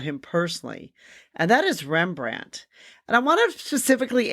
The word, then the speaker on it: Rembrandt: a n t and then he later added the D which was silent for the name rembrand we don't really know